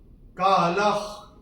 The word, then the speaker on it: कालः: का अक्षर है क, और विसर्ग के बाद अगर क या ख आता है तो विसर्ग का उच्चारण होता है ह फ्रॉम द एपिग्लॉटिस।